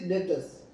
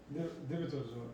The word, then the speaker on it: debtors: But it is debtors. Correct? DRS. Yeah, debtors. In short, I written debtors. Debitors. Yeah, D-E-B-T-O-R-S. Debitors. You don't pronounce the B.